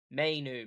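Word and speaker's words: Mainoo: Michael Mayu.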